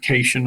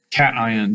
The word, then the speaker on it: cation: of a plus sign please don't pronounce this word casion unless you're from louisiana cation the t reminds you